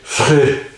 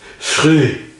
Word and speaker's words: Früh: or something like that, you'd say free, the word free, but you do it as guttural as possible. So in other words, you say früh, früh, früh, früh.